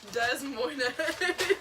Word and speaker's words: Des Moines: Des Moines.